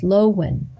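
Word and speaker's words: Löwchen: That's the Lowchen, pronounced Lowen, a rare and fascinating breed with a surprisingly long history.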